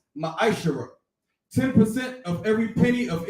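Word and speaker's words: מעשר: it means 10th in hebrew and it's pronounced maestro 10 of every penny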